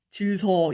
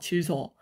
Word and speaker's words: 질서: 질서 이렇게 발음 안 하잖아요. 질서. 한자거든요, 그죠? 뒤에 오는 시옷이 쌍시옷으로.